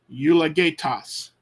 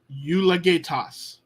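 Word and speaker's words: εὐλογητός: well of someone but notice this Epsilon Epsilon Upsilon is one sound one syllable la is one syllable gay is one syllable toss you la gay Tas eulogetas Epsilon Upsilon Lambda Omicron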